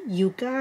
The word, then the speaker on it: Yucca: I know a lot of you may pronounce it Yucca, but the name is Yucca, and it's a root.